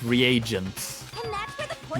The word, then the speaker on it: reagents: I guess I pronounced it that wrong, so it's reagents, And that's where the poison not came Reagans.